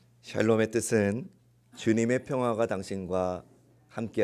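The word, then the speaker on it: שָׁלוֹם: 이스라엘 식으로 인사해 볼까요 샬롬 발음을 잘 하셔야 됩니다 살롬하면 뭘 자꾸 사라는 것 같습니다 샬롬의 뜻은 주님의 평화가 당신과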